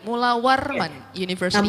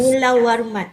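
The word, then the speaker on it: Mulawarman: huge uh thanks to the faculty of engineering Mulawan University. Am I pronounced right for the university? Definitely Mulawan University. Yes. Mulawan.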